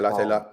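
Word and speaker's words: Latte Lath: How you pronounce it? Thank you. Yeah, Latte Lat.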